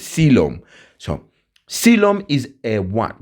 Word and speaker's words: coelom: So we say coilom h coilom but when we pronounce it we says sylum. Okay the o is a silent one. So it's sylum.